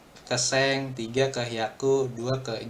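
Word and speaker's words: 千: Kalau 1000 bacanya seng doang sih. Harusnya 1000 bacanya seng doang. Goj seng. Ini seng 1.000 enggak ada ichi seng goju seng 50.000 R51.000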